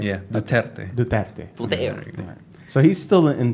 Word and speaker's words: Duterte: pronouncing that right? Yeah, Duterte.